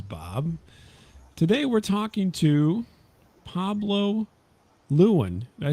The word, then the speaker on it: Pablo Lewin: welcome this is Bob today we're talking to Pablo Luan did I say that right Pablo absolutely correct oh wow pronunciation first first try usually I get everybody's